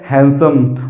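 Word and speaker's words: handsome: नहीं बोलना है दी क्या हो जाएगा इसमें साइलेंट है और इसको पढ़ना आपको क्या है हैंडसम तो दोस्तों आशा करता हूं की आपको ये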